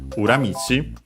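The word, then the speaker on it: 裏道: get the uh uramichi unacented so be careful.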